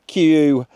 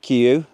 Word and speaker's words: KUIU: I've got the uh Q Stormstar. I think that's how you say it. Q.